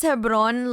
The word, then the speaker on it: Hebron: Mana pronounces Hebron like it rhymes with cabron.